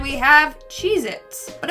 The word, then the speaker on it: Cheez-It: Moving on to number 9, we have Cheez-Its. But apparently, that tasty cheese cracker is not called Cheez-Its, it's Cheez-It.